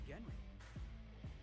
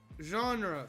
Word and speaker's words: genre: It's a rule of the Genri. Mass Marketeer had a mass. Did you just say Genri instead of genre? A real unfortunate hullhead named Lucky. Coincidence? I think not. Genre, Felix. It's pronounced genre.